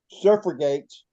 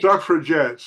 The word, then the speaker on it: suffragette: Surf gates. Did I pronounce that right? Surf gates. Suffragettes. Suffragettes. Women suffer jets.